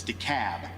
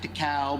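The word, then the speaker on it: DeKalb: Yankees in the room it's de cab not de Cal not D Cab it's de cab so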